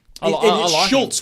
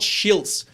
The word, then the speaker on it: Schultz: know i rate him schultz with the u not schiltz hudson no cement headed